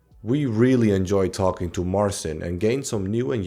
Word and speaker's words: Marcin: Today I am here with Marson. Is that how I pronounce it?